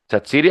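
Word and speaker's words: Xhaka: bueno jardan sairi y Guardiola le pregunta Quién satsi así pronuncia correctamente en en Albania pues así le empezaremos a decir pues así le empecé a decir yo y y me empino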